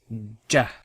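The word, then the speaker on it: جَ: So, this letter is what we pronounce if there was a fatha on top. We say ja.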